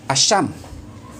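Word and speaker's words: الشمس: Contoh lainnya bisa kita ambil seperti Al-Sams yang dibaca Asyam. Itu membacanya Asyamnya langsung, karena jelas matahari itu satu.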